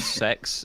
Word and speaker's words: CeX: a store over here called sex and it's spelled CeX and they sell secondhand